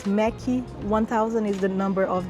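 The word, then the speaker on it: Méqui: and that's because it's the way that Brazilian people pronounce the word Mac in a kind of a Brazilian way so it's mechy 1,000 is the number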